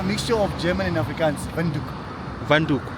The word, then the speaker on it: Windhoek: Venduk. Vanuk. Venduk.